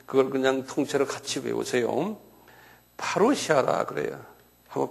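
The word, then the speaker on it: παρουσία: 파루시아라 그래요. 한번 발음해 보세요.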